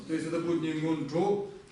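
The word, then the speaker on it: སྔོན་འགྲོ: То есть, смотрите, видите, как оно произносится? Мёнджо. Слышите, да? Я видел, каких я только написать не видел. Нондро. Но это очень далеко от тибетского. Давайте будем произносить правильно. Это мён. Н смягчает. Помните, мы говорили об этом, что на что она делает? Смягчает предыдущее слово, получается мён-джо.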